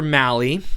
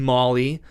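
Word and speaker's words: Mahle: But anyway, the Giants uh went out and signed another starting pitcher, Tyler Mali. Um I've heard people pronounce his name Molly or male. It's based on my research, it rhymes with rally.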